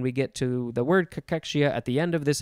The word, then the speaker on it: cachexia: Yes, it is pronounced cachexia.